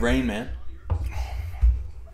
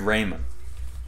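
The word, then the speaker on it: Raimann: But I'm saying his name wrong intentionally, just yeah, just so we're all on the same page. Yeah, it's actually Bernard Raymond out of Central Michigan.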